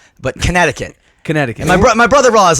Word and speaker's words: Connecticut: I think it's that silent C in Connecticut that kind of gives it that Yeah.